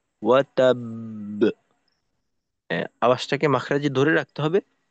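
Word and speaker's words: وَتَبَّ: তখন যেটা হয় যে দ্বিতীয় বাও জজম হবে, প্রথম বা তো অলরেডি জজম আছেই, তাহলে 2টা বা। তো এখন আমাদের করতে হবে কি, বায়ের মাখরাজে 2টা বা উচ্চারণ করতে যতটুকু সময় লাগে ওই পরিমাণ সময় অবস্থান করা। আর যেহেতু এখানে কলকলা হবে, তো সেক্ষেত্রে ফিরতি আওয়াজটাকেও একটু শক্তিশালী করা। তাহলে হবে ওয়াতাব, ওয়াতাব।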